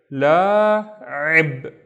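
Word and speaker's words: لاعب: So this is a long la. This is la, and then that's the first syllable. La. The second syllable we have the with a kasra, so it's ri, and this would be ib, ib, la'ib, la'ib, and la'ib is a player, la'ib.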